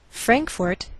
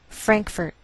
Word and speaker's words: Frankfort: Frankfort, Kentucky. Now some Americans may change the second syllable of the capital, and you may hear Frankfurt.